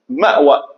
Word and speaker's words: Ma'wa: Mais seulement, on prononce li Ma'wa.